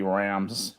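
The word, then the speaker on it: Reims: so like peter griffin it's supposed to be rams but no americans can't do the ms all right so yeah so it's up with that soft print french pronunciation so let's give up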